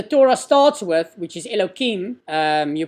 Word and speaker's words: Elohim: name which the Torah starts with which is Elokim you pronounce it if you say it out it's Elohim that's also more than a hundred times the